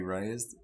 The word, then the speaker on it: Reyes: raise a rock Robbie Reyes Reyes I have trouble about yeah last name re y es how would you pronounce it i'm having trouble are you why yes yeah yeah ray ray is yeah so he's he's